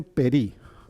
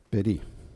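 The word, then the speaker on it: פרי: Bueno, en hebreo fruto se dice peri. Peri.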